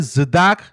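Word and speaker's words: צדקה: उसे कहा जाता है ज़िदाक, यानी कि टी जो साइलेंट होता है, स्पेलिंग आपके सामने आ रही है ज़िदाक, और ज़िदाक का मतलब होता है चैरिटी।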